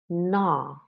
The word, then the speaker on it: gnaw: I used American pronunciation of these words, but in both languages, the G is mute.